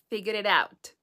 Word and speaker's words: figured it out: The last T in out is a healthy, so don't overpronounce it. Out, out, out. Therefore, the word is figured it out.